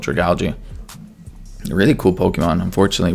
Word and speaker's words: Dragalge: I realized last time I didn't know how to pronounce Dragalge, and then I thought, wait, algae. So it's definitely called Dragalge.